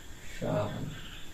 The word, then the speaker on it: শ্মশান: পারি সানা এই যে শ্মশান শব্দে শ্মশান শব্দে শব্দের শুরুতে এখানে কিন্তু ম ফলা যুক্ত হয়েছে এটার উচ্চারণ কি হবে শান এই যে বক্তে শব্দের